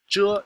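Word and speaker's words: 着: This particle is pronounced 遮. It's a fairly important structural particle. We'll see it more and more as we go on in Chinese. What does it mean? Well, 遮 signifies the continuation of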